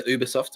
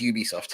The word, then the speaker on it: Ubisoft: Is Uberoft or Ubisoft? Okay, it is Ubisoft.